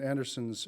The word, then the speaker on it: Andersen: My topic is Hans Christian Andersen's fairy tales, and if I use the Danish pronunciation Andersen, that only lends more authenticity to my talk.